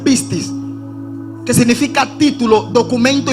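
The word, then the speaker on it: πίστις: te das cuenta que la palabra fe en griego se pronuncia pistis que significa título documento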